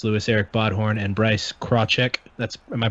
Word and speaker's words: Krawczyk: We got Bryce Lewis, Eric Bodhorn, and Bryce Krawczyk. Am I pronouncing that right?